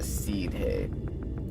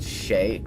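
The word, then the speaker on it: Sidhe: faith foker an ancient race known as the seed he oh pronounced she she how in the hell is s d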